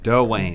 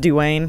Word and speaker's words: Dwayne: Dwayne had his chapter Doane it's pronounced Dewayne yeah all right pills